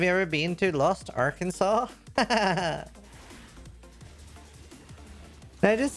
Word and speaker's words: Arkansas: Arkansas. By the way, I don't know why it's not pronounced ar Kansas, but it's such a cool name for a state, dude.